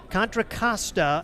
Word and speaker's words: Contra Costa: And the official pronunciation is according to the internet contracasta.